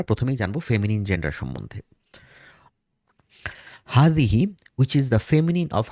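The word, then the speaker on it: هذه: একটু টান দিয়ে উচ্চারণ করতে হবে, হাদিহি।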